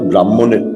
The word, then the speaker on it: ব্রহ্ম: স্পেলিংটা ব্রাহ্মণের বানান, কিন্তু এখন উচ্চারণটা হবে ব্রহ্ম।